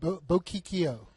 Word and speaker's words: Bochicchio: Bochicchio. I never knew that. Yeah, you're from New York. You should know how to pronounce Italian names.